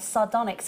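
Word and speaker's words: sardonyx: there absolutely you heard we say it right sardonic it's back oh my goodness um is an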